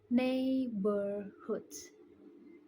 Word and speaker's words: neighborhood: Listen, neighborhoods. One more, neighborhoods, which is incorrect pronunciation. And the mistake is in several of the words. I pronounced the gh even though is it silent, and also I pronounced